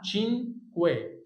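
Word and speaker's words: cinque: خلي بالك من الكلمه دي عشان في ناس كتير بتنطقها غلط. اسمها تشينكوي، تشينكوي، تشينكوي، 5.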